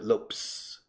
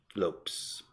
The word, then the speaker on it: Lopes: But López con S is usually Portuguese, and se pronuncia Lopes. Lopes.